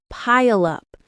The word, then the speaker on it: pile up: Pile up. It's two syllables. Pile up. The stress is on the first syllable.